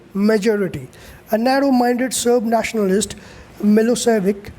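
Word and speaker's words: Milošević: a narrow-minded serb nationalist milosevic pronounced milo shevik had won the election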